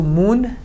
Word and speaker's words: مون: Te changes to tan, and she changes to shan, and all of them in spoken change to un. Man changes to moon, tan tun, and shan shun.